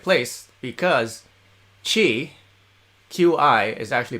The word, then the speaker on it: qi: then you're at the right place because chi q i is actually pronounced qi in chinese and chi will help